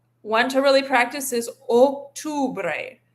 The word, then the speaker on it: octubre: Want to really practice this octubre. Make sure you're giving a nice o sound on that o, and then an u sound on the on the u.